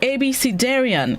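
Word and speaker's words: abecedarian: century word of the day this morning is abc darian is spelled a b e c e d a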